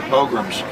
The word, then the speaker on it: pogrom: That's 600 years ago in England or France, they had their pogroms.